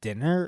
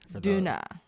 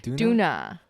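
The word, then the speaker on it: Döner: But what I was gonna ask is it pronounced dinner or donner? Duna. Oh wait, so it is that the same, like DONNER? That's what you had? It's like D-O with an the- umlaut.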